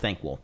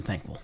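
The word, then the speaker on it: Thanquol: I believe it's pronounced Thanquil, which is funny because I feel like that almost sounds like a skink name, Yeah. in my opinion. Yeah. Well, it sounds like NyQuil to me.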